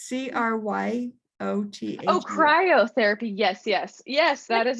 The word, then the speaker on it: cryotherapy: chiropractic is that the no it's c-r-y-o-t oh cryotherapy yes yes yes that is another therapy okay i thought you said cairo therapy so i wasn't sure but yes cryotherapy biotherapy yeah no that's all right we got